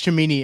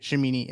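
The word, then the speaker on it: Cimini: oh yeah um Rich chamini actually by the way shimini uh I don't know how to pronounce it it's just C I think it makes an S sound but uh of ESPN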